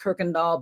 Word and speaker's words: Kuykendall: CrystalKendall is pronounced Kirkendall, but it's spelled KuykenDall.